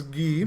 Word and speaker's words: Guy: This one belongs to Guy or Guy, but I'm going to go with the French pronunciation. This is Guy.